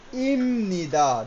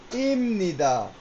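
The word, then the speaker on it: 입니다: কিন্তু এই নিয়মের কারণে এটার উচ্চারণ কি হয়ে যাবে? ইমনিদা। দেখেন পাশে আমি লিখে দিছি। ইমনিদা।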